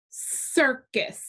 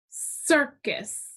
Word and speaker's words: circus: u gets a brevi circus circus which syllable is accented in circus yeah the first one okay let's look here